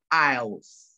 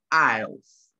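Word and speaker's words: aisles: people pronounce this as us isis the correct pronunciation is isles isles so surgeries isles and common areas within an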